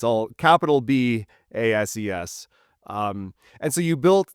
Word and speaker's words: BASES: Uh, it is BAS. I think most people there pronounce a bass.